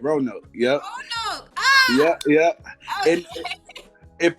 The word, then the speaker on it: Roanoke: guest from Ro I can't pronounce it Roanoke Roanoke yeah I'm pronouncing that so I'm from Virginia please Maureen